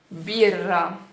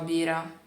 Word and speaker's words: birra: Por exemplo, a palavra birra, birra, birra. Eu sei que às vezes dá umas travadas, tá bom? Às vezes você não presta muita atenção, se você não consegue segurar a língua lá em cima, mas é assim, é birra, tá bom? Você não pode falar bira.